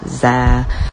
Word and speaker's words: zir: asking about my pronouns they are pronounced z zem zaire